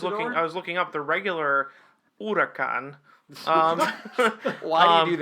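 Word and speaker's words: Huracán: If we're talking just streetcar on streetcar violence here, What is the regular Hurricane? possibly. Well, and so that's Or why the I was Aventador? looking up the regular Huracan.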